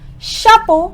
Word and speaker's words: chapeau: the sound of Oh so you can say the sound of O is also oh and the sound of